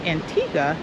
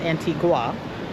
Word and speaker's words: Antigua: Um yeah, and get to see a little bit of Antigga. And guys, it is pronounced Antigga, not Antigua.